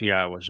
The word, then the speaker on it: Yahowah: And of course, within Christian communities, the very fact that Yahweh's name is Yahwa and they don't mention it means that Yahweh has nothing to do with their New Testament or their religion.